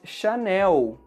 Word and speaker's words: Chanel: No Brasil, pronunciamos Chanel. E palavras que terminam com a letra L têm esse som da letra U em português.